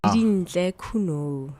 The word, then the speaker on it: Didintle Khunou: But ladies and gentlemen, Didintle Khunou. Is that I pronounced the last name correctly? Yes, Didintle Khunou.